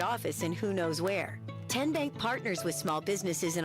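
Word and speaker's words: TNBank: How do you say the name Kien Bank? Nope. Ken Bank. Uh-uh. So, what is it? Tenbank. 10 as in Tennessee.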